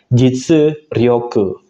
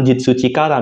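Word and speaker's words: 実力: Kemudian kalau kanji kekuatan digabung dengan kanji jitsu, sebenarnya itu akan dibaca jitsu ryoku, bukan jitsu chikara minasang.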